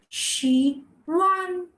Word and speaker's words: 喜欢: The H goes silent. So when you're speaking it quickly, even in English language, the H usually goes silent. It just goes out when you're speaking. So how do you say this? She won. One more time. She won. Now I'm not saying were. It's H plus U. Her and you. So it's going like she won.